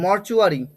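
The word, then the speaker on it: mortuary: আচ্ছা, মর্চুয়ারি, মর্চুয়ারি, মর্চুয়ারি, এটা টুয়ারি হবে না, হ্যাঁ, মর্চুয়ারি, টি ইউ এর উচ্চারণটা চু হবে, মর্চুয়ারি, মর্চুয়ারি হাসপাতাল বা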